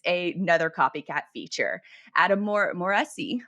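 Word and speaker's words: Mosseri: another copycat feature adam moresi or mossery that's actually how you say his name is the head of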